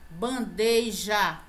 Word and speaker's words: bandeja: Bandeja, não existe esse i aqui de bandeja, né?